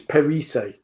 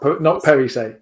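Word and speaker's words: Perisset: By the way, while we're talking about pronunciation, it's Perise. Not Perise. It's Perise. Perise. Yeah. Oh, it's sorry. Emphasis is on the second syllable.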